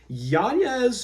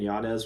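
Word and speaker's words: Yanez: Jonathan Martinez fight that he uh changed the pronunciation of his name to yanes because of Heritage stuff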